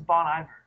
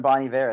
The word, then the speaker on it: Bon Iver: really annoys me because I'm pretty sure it's Bon Iver they were stilling Bonnie ver at the awards ceremony I mean maybe Bonnie ver that's the proper French I don't know how he pronounces it well we're American so we're gonna go with Bon Iver yeah got it yeah